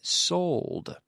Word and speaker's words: sold: Ending in a D, which must be pronounced. I sold.